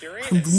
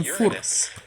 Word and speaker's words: Uranus: my science teacher was telling us it's actually Uranus and that's how we should pronounce it and there I was all these people in other schools and I said it the incorrect Right.